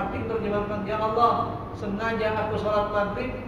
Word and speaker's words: Allah: Cuma dibacanya dengan tebal Allah.